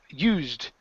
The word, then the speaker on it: used: next we have um used okay so here Ed ending instead of Ed okay the E is silent are used for energy